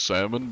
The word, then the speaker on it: salmon: I mean, I guess it could be salmon, but it's probably salmon. Welcome in, Salmon Gaming. That's like the weirdest word. Why is salmon pronounced salmon, but it's spelled with an L?